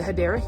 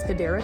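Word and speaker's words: Hedera: This one is a Hyera Helix or the correct way to say it is Hideera Helix.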